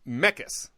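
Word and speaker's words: Mekkes: say that guy's name is it like Mekas mecca's how do you say that mecca's okay is what I am pretty sure Dakota mecca's house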